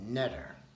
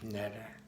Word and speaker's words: neter: The main letters are NTR because the Kemites didn't have the vowel E. And so when, I guess, Egyptologists came across the letters NTR, how do you pronounce that? Well, we just put our E in there, and that'd give us the word netter, and we'd be able to pronounce it.